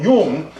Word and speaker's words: Jung: yuen gotta see it I'm gonna say it like a Swiss person the famous Swiss psychologist Carl Jung who said that so